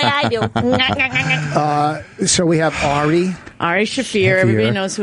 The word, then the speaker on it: Ari: Well, how do you say it? Airy? He used to say, Ari. yes. He used to say Airy. That's a non-Jewish way to say it.